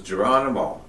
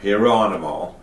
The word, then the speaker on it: Geronimo: not representative of my tribe because this is Geronimo, or Hieronimo, however you want to pronounce it.